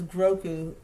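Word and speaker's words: Grogu: Baby Yoda's name is Grouku. Grouku. Grouku. Grouku.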